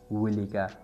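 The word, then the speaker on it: walk: right this मतलब द विका यानी राइट दिस द विका वॉक स्लोली तो वॉक स्लोली मतलब मजा जा या कलारा जाना वाल दे डब्ल्यू एल के वाल के एल साइलेंट वाक दे सही प्रोनाउंसिएशन दे वॉक स्लोली यानी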